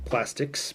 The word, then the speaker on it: PlastiX: find it at Walmart it's obviously pronounced Plastics because the x is cool and up to-date so uh Plastics is